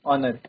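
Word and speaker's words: honour: हम आर पढ़ते हैं ये ऑनर एच यहां पर साइलेंट रहता है या फिर हम बोल सकते हैं कि एच म्यूट रहता है तो इसका जो साउंड है साउंड हमारा वोवेल का आता है।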